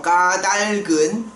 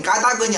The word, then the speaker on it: 까닭: 여러분들 그 정전기가 겨울로 간 까닭은 이런 까닭은 어떻게 발음해야 돼?까 달근이죠. 그렇죠? 까달근 까닭. 까다근이 아니라 까닭이 맞죠?